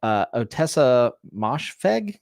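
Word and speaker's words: Ottessa Moshfegh: Yeah, Otessa Moshfegh is how you say her name.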